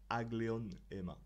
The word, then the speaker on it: aglaonema: C'est une aglaonema. Aglaonema qu'on prononce en latin agleonema.